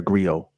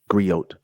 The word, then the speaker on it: griot: you remember we are Grio griot don't pronounce the T Grio we are Grio